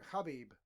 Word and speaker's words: Khabib: Yeah, well, it depends on where you're from as well, because certain people in the States pronounce it Habib, you know.